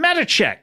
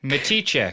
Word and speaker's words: Matichek: Uh but uh please welcome to the show Metache. Matichek. Matichek. Sorry. That's all right. Matichek. You you pronounced it the way it's spelled.